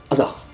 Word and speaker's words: ankh: Donc au final l'apostrophe le N et le H avec le tiret ça se prononce Anar Si on prend l'exemple